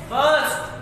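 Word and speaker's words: burst: बर्स्ट, बी यू आर एस टी, बर्स्ट, are silent है, बर्स्ट।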